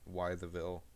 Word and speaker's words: Wytheville: I'm going to pronounce it Wytheville.